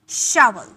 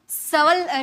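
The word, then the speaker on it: shovel: से प्रोनाउंस कर पाओगे इसे होती है शल शल शल इसे श सल स मत बोलिएगा स नहीं श शल शल ओके शल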